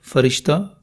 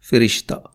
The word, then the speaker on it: فرشتہ: اور درجہ۔ اسی طرح فرشتہ فے زبر کے ساتھ اور فے زیر کے ساتھ، فرشتہ۔ لفظ کروبی کی فارسی